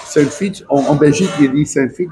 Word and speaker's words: Saintfiet: Oui, on a dit Saint-Fit. C'est Saintfiet. Saint-Fit.